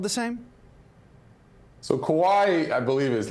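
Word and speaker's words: こわい: So fun word, which is not to be mistaken for the other word, but kowai is what means scared or kind of cowardly in Japanese.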